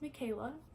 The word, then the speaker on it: Mikhaila: But yeah, so it's spelled a little bit different, but it's pronounced Michaela.